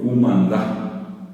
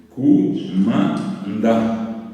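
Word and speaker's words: kumanda: Por ejemplo, la gente en el interior, cumandá, poroto. Cumandá. Separo sílaba por la duda. No hay ningún pusó, no hay ningún acento. Cumandá.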